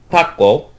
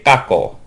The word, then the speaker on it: tako: So the Japanese word for octopus is tako. That's not a very good Japanese pronunciation, tako. And children will often say kako.